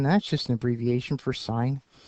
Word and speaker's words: sin: just an abbreviation for sign U but it's pronounced sign even though it's written s n or sin you can call it